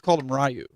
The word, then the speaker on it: Ryu: than me and um he kept calling Ryu like ryui or something and I'm like dude it's I'm like dude it's Ryu and he's like yeah